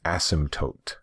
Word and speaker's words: asymptote: So it's kind of a weird spelling and a weird pronunciation. Again, it's asymptote.